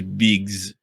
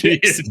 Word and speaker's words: Bix: So speaking of names, her name is Biggs. Am I misremembering it, or wasn't there a rebel also named Biggs? I think Biggs with two G's. Oh, excuse me. Her name is Bix, B-I-X.